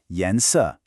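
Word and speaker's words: 颜色: Then yens, a rising second tone, and then a sharp falling fourth tone.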